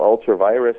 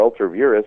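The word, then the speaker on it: ultra vires: I believe that much of what the federal government does is what we call ultra virus or ultra virus, depending on how you pronounce the Latin, which means really a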